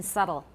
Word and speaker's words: subtle: a phoneme everybody notice b is not pronounced in subtle like a b in